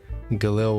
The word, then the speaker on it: Galil: 3D model your voice Galil with a hard G okay that's what I